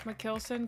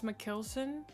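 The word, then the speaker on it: Mikkelsen: Mads Mckelson. That's how I've always heard it. I thought Mikkelson was the American way to pronounce it and Mckelson was correct, but maybe I'm wrong.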